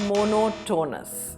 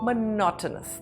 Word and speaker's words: monotonous: A pronunciation tip. It is not monotonous. Say monotonous. The focus is on the not monotonous.